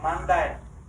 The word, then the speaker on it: mandar: mandi asal katanya Mandar Mandar artinya komando perintah Mandar ini dalam bahasa Portugis dibaca mandai mandai nah mandai ini E ini dibacanya i jadi mandi diulang lalu perintah apa ya